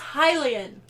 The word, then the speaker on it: Hylian: You are most certainly a Hylian. I mispronounced the word Hylian and it gets on Carmen's It drives nerves. me crazy because how hard is it to figure out that it's pronounced Hylian?